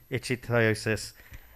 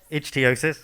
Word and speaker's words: ichthyosis: rugby referee and certified yoga instructor with Harlequin ichthyosis. And is that how I pronounce it? Sorry, Mui, is that correct? Ichthyosis, sorry, perfect, ichthyosis.